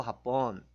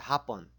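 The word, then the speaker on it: Hapon: 딜리꼬는 뭐 그러면 딜리꼬 합본 합본 이게 중요한데 발음이 앞에 강세가 있으면 마용 합본 앞에 강세 있으면 오후입니다. 아까 배웠다시피 오후 인사 마용 합본. 근데 뒤에 강세가 붙어가지고 합본 하면 일본이 됩니다.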